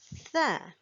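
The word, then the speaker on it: ث: And the next letter here we have is Tha. Tha as in 3 dots, Tha. It starts with a TH sound, sound.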